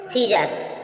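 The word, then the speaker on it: scissors: प्रकार नेक्स्ट पर चलेंगे सीजर सीजर्स मीन कैची सीजर सीजर मीस कची के बाद जो सी आई साइलेंट है सीजर सीजर म कैची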